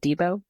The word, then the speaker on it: Deebo: Deebo? Yeah, yeah, Deebo.